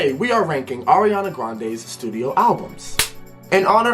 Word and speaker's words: Ariana: the last video and I messed it up but it's ar Ariana regardless regardless we have